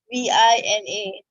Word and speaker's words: Vina: V I N A Vina. Okay. Some people pronounce pronounce it pronounce it as V E N A V I N A.